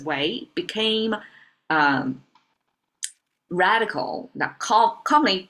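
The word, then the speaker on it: 囗: Um so this box pronounced as way became um radical that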